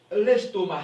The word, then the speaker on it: estomac: l'estomac en français ok on dit l'estomac c'est ici dans l'estomac c'est de se prononce pas on dit automne on